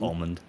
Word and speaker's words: almond: How do you guys pronounce almond? Almond. Almond. I just don't say the D. I just go almond.